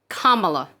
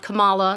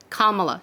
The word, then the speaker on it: Kamala: of mispronouncing her first name her name is pronounced kamala not kamala not camilla it's kamala she's a sitting senator she's the first woman